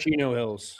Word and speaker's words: Chino Hills: Chino Hills.